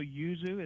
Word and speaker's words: yuzu: for our listeners yeah so Yuzu is y u z u okay just like it sounds and I found that